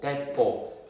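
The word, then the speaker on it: 鉄砲: 이 우리나라에서는 조총, 나는 새도 떨어뜨린다고 조총이라 부르지만 일본 애들은 뭐라 부르냐면 대뽀라고 불러. 대뽀. 대뽀가 뜻이 뭐냐면 철을 대뽀라고. 대뽀. 일본 발음으로 대뽀.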